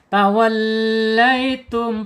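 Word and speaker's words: تَوَلَّيْتُمْ: Tawallaitum, penekanan di huruf lam, jangan lupa ya, tasdid tuh. Tawallaitum ya, lai, lin ya, miring, dimiringkan, bacanya lai, miring ya. Dibaca lembut, halus ya. Sebentar lagi sudah 8:30. Dikit lagi yuk. Lin ya, laitum, tum, tahan 2 harokat.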